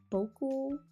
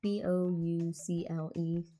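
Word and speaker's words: bouclé: Bocle? Whatever, it's Boucle.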